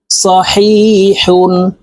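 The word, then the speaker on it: صحيحٌ: হা দুই পেশ হুন এটি বড় হা হালুকের মধ্যখান থেকে উচ্চারণ হবে সহিহুন সহিহুন দবর দ র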